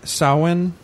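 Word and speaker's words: Samhain: or Gaelic holiday sa saan mhm which is pronounced uh sa but spelled s m ha a i n which looks like Sam Hayne um uh in the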